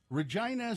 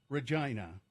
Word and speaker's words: Regina: at the fact that the city's name rhymes with the word vagina the slogans show us